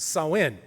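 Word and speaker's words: Samhain: ha a i n but it's pronounced sawin um during sawin the Kelts believed that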